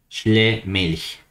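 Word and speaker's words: Schlömilch: Si somos muy formales y sabemos alemán, la O con dos puntitos es una OE, Schlemilch.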